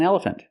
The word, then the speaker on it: elephant: elephant but an elephant make a closed sound for the last syllable F fun elephant this is an elephant and the Elephant has